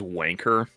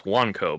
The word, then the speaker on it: Wanko: Because they thought it was Wanker. Because they thought it was like you pronounce like Wanko. I was like, is that a problem? It's like, no, it's Wanko because of the Wan.